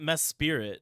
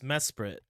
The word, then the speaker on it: Mesprit: is Mesprit yuie AEL it's not mesp it's Mesprit ah well I've never been go with Pokemon names anyway it's Mesprit yeah there's only one I m s p r i t Mesprit like a Sprite but without the e so sprit I've always called uh